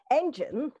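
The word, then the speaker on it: En'gen: i go all my notes together so um engine e n apostrophe g e n is pronounced engine it is one of the first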